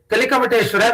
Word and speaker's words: Kalikamateshwara: And apart from these 2 temples, the other 3 temples, that is Nagareshwara, Kalikamateshwara, which is pronounced as Kali Kamateshwara in these days, and there is one Ramalingeshwara.